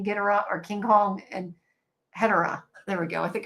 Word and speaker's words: Hedorah: No, Hedorah is correct.